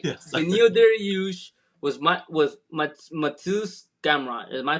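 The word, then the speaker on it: Mateusz: Benil Dariush was Matus Gamrot. Am I pronouncing his name right? Yeah, Mateus.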